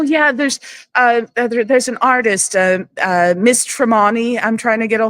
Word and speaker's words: Tremani: you know, so, and they'd always pronounce it Tremani instead of, you know, Tremani, because it sounds fancier that way.